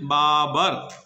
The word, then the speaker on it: Babur: Please don't mispronounce it. Babur.